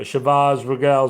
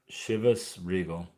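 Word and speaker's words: Chivas Regal: Chantel poured me a Shabbaz regal scotch. Wonder how you pronounce that. I will look it up. What's it? Shabbaz. Regal pronunciation. Shivus Regal. Shivus Regal.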